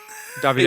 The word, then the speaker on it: Davide: Davide. It's spelled the same, but please say it differently.